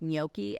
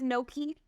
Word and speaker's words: gnocchi: It's spelled with a G, but you don't pronounce it, but it's like you got to have like phlegm in your throat and you're like gnocchi.